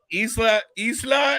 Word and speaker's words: Isla: Isla and Alba. Isla. Don't say the S. You know, it's a silent S. It's Well, a get that silent S S.